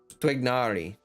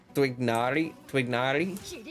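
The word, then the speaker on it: Tighnari: for the characters, and basically I guess the Arabic is kind of like Twignari kind of, or something, where it should have like almost a W sound in it, like twig with an H, like twig, you know.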